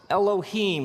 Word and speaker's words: Elohim: something like this and it's pronounced Elohim let me hear you say Elohim in the beginning Elohim created the heavens and